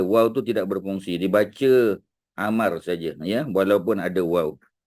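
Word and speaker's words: عمرو: binti Amar ya Ha jadi ejaannya Ain mim Raw wau ya macam bunyi Amru tapi kalau dia datang selepas bin atau binti ya kita kena baca Amar saja wau tu tidak berfungsi ya tapi kalau tulis kena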